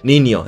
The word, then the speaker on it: niño: con la en la ñe se pronuncia como la n normal pero sin hacerle click por fuera con los labios XD dijo la pero